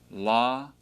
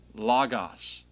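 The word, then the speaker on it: λόγος: The consonant that was wedged between the two vowels goes with the following vowel.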